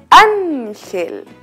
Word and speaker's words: ángel: Muy bien, en la vocal A. Es ángel.